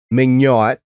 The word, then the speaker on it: Meugniot: show in season one his name is will mignot and that spelled by the way m-e-u-g-n-i-o-t i did get the pronunciation right but that's the last